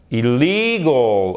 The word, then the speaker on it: illegal: Ici, en l'occurrence, c'est très exactement, chers amis, allez, les deux L et le E. Illegal, ok?